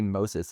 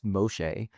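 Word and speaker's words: משה: since it's a Greek word, I don't get too fussy about how it's actually pronounced, right? It's not really Moses, it's Moshe.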